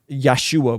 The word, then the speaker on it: Yeshua: the Messiah and then they don't say his name right so they say it is almost as a slur like yeshu yeshu like like don't say